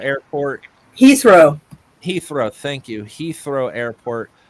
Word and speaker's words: Heathrow: wrong over in England uh her her throw hathrow airport Heathrow Heathrow thank you Heathrow Airport uh there was